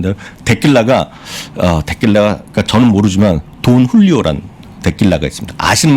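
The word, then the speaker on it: Don Julio: 데킬라가 그러니까 저는 모르지만 돈 훌리오란 데킬라가 있습니다. 아시는 분 계실 것 같아요. 검색하니까 딱 나오더라고요, 저도. 돈 훌리오. 돈 흘리오? 예, 그 JULIO인데 그걸 그 훌리오라고 읽는 것 같습니다.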